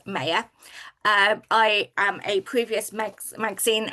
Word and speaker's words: Maya: I'm Maya, and it is pronounced Maya.